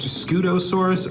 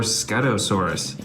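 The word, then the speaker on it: Scutosaurus: This is the I think it's pronounced Scoosaurus or Scuttosaurus.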